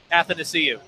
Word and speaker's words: Athanasiou: Athanasiou.